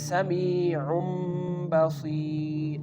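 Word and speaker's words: سَمِيعٌ بَصِيرٌ: So, same like this, samee'un baseer. Samee'un baseer. Again, the tanween becomes meem sound.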